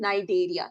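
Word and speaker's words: Cnidaria: call it as philm nideria the C is silent then philm Tora again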